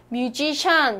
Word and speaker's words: musician: 이래 딱 들었습니다 무슨 뜻이냐 페이스 덥다 스 뮤지션 여기서 뮤지션 어디있죠 현이 목이 뒤에 있죠 이